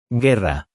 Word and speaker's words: guerra: Guerra. Guerra. U is silent.